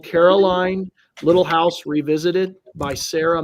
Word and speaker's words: Caroline: So, or Carolyn. I think in the TV show she was always Caroline. So that's how I pronounce it.